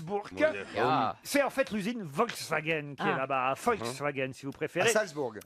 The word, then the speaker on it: Volkswagen: main zuma freaks burqa c'est en fait l'usiné volkswagen tabac afghane si vous préférez voilà exactement ici vous allez danseuses dont soldes bourg à wolfsburg il y a le musée volks wagen et si vous allez dans ce musée vous